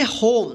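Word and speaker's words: home: तो इस ओ का ओ उच्चारण होगा और इ का उच्चारण नहीं होगा।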